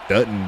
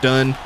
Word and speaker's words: Dutton: Livy Dutton there with the tackle. A lot of speculation on how to pronounce that last name. It's actually D-U-T-T-O-N. It's not done. It's not Dunning.